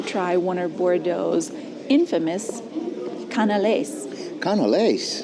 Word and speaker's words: canelé: But right behind me, we have to go try one of Bordeaux's infamous canelés. Canelés? Canelé, I think that's how you say it.